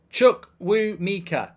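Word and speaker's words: Chukwuemeka: can't argue with that chukuamika I think his name is chukwumika I don't know how you pronounce it but first senior goal I believe they brought him in from Aston Villa for good money and uh chuck woo Mika is how you do it says bkg and I tell you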